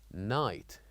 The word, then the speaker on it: night: And finally, we have the word night, N-I-G-H-T. So here we wrote G and H, but as we said, we don't pronounce it.